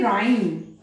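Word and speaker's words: rhyme: कुछ ऐसे वर्ड्स जिनमें आर एच आता है वहां पर भी एच साइलेंट होता है, जैसे कि राइम, इसको राइम नहीं बोला जाता है, यहां पर एच साइलेंट है।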